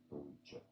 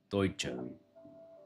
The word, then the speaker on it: Deutsche: In German, it's said as Deutsche. Deutsche. Deutsche. Deutsche. So, is it Deutsche Bank? Deutsche. Deutsche. How do you pronounce this Deutsche. So, it's a Deutsche Bank.